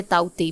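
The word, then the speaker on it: Tauktae: इसे ताउते भी बोला जा रहा है और टॉकते भी कोई लोग प्रोनाउंस कर रहे हैं, तो अकॉर्डिंगली आप प्रोनाउंस कर सकते हो।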